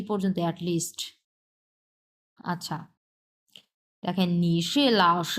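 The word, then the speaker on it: 老师: মানে কি ছাড় লাও প্রথমটা হচ্ছে তিন নাম্বার টন সো উচ্চারণ ভি শেপ লাও এরকম হবে হ্যাঁ লাও ভি শেপ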